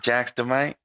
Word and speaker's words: Jaxdamite: and today we have jax demight is that how you pronounce it is it jax the might yes sir you already know all